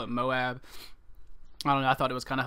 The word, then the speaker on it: MOAB: video recently talking about the pronunciation of MOAB versus MOAB. Apparently it is MOAB, and I have gone like all these months without knowing it.